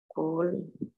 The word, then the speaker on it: Kohlrausch: Goldrosh law. This is how you pronounce it.